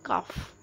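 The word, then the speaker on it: cough: Next whooping कफ, this is कफ।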